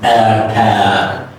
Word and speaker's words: attack: The first one is reduce. The second one is stretch. Reduce and stretch. So the first A is mouth is relaxed.